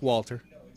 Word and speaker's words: Walter: It was almost like they were dropping the W. Okay, no, it's Walter.